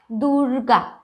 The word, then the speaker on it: দুর্গা: দুর্গম, বর্গী, দুর্গা। ঠিক একইভাবে দুর্গা, এখানে দয়ের রস্যুর পরে একটা রয়ের উচ্চারণ আসছে, দুর্গা।